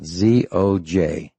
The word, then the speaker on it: Zojirushi: that I've ever seen is a company called Zojiruchi. It's Japanese. It's top of the line. Ours aren't, but theirs is. Let me spell it. Zojirushi.